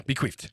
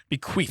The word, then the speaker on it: bequeathed: Also, make sure you hard pronounce the TH in queef. Yeah, I got you. Yeah, bequeathed. Bequeathed. No, not an F.